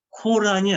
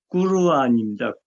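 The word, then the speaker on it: قرآن: 그러면은 그래서 코란도 코란이 아니죠. 오가 없는데 오 발음을 쓴 거 아니에요. 영어식으로. 꾸르안입니다. 꾸르안이 아랍어 정확한 발음이에요.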